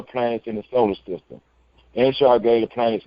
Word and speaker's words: Enshar: His name is spelled EN.SHAR. It's spelled just like UnCONPromeyezed, but it's Enshar with an E.